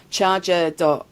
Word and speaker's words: CHRGR: to talk today is about charger. which is spelled CH hrg doio and also scatia so